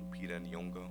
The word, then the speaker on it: Lupita Nyong'o: I think Lupita Nyong'o.